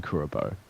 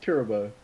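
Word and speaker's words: Kuriboh: yell at you for saying kirobo it was like your arm stop that's always pronounced curable no turbos of you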